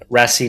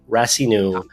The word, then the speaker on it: Rassinoux: least at least give them your name so spell it out rasu rasu is r a SS i n o